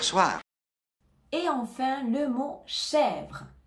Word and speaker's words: chèvre: et enfin le mot chèvre chèvre ici on ne prononce pas le E à la fin du mot on a donc le